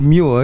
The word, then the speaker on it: Moir: It's more. He answered nothing. Okay. Ian, I said Muir, you said Moir. And he was like, they're both of those.